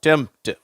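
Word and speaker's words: tempt: இதை நம்ம எப்படி உச்சரிக்கிறோம் டெம்ட் அந்த பி என்ற உச்சரிப்பு வரதில்லை அட்டெம்ட் சிம்டம் ஓகேவா டெம்ட்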